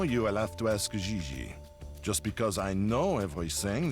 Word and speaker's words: Gigi: JJ. En français, you pronounce G like J and J like G. She may very well be JJ in America, but in France, she is Gigi.